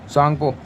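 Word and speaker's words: Tsangpo: सांगपो यहां T silent हो जाता है इंग्लिश में।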